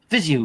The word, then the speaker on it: Viseu: So you basically expedite your air from your lungs when you say the word Viseu. Viseu.